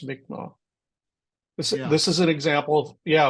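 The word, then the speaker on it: Mi'kmaq: Oh, Greg, how did you say this was pronounced? I forgot. Magma. Magma. That's it. I kept saying, Mick, Mak, because that's the Canadian friends that called it that.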